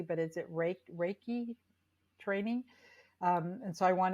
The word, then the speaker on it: Reiki: sure I'm pronouncing it correctly, but is it Reiki training? And so I want to explore that just Reiki, yes.